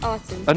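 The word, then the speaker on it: Akhenaten: and that's and who's arton an arton so a is pronounced R right okay right okay lovely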